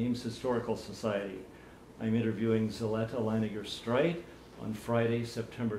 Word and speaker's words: Zellettia: Just for the record, her name is spelled Z-E-L-L-E-T-T-I-A, but pronounced Zellettia, not Zellettia.